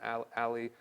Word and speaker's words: a11y: but if you don't, it's the letter A, 11 characters, and the letter Y, so we can say this ally. You can probably pronounce it ally as well.